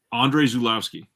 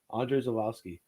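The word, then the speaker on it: Andrzej Żuławski: that can can can you say his name andre zulowski andre zolowski yeah i would not have guessed that's what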